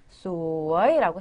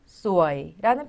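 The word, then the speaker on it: สวย: 상대방에 대해서 칭찬을 해줄 때, 예뻐요라고 했을 때는 소아이라고 사성으로 발음을 하셔야 된다는 거죠. 그런데 그쵸? 일성으로도 소아이라는 표현이 있어요.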